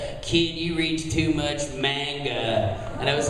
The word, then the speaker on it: manga: So my director got me to say, "You can hear me getting kicked in the back," and he goes, "It's manga," like in the background.